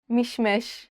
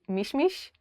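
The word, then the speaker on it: משמש: Mishmesh, apricot. The word is mishmesh, but Israelis usually say mishmish.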